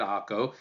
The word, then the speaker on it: Acre: one of my personal favorites a place called akko I know it's spelled h-c-r-e but we oftentimes pronounce it AKO uh this is a great place you know